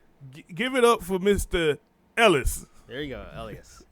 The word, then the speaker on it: Llyas: Ellis. There you go, Llyas. Elias, yeah. So, like I was saying, I had to pronounce his first name.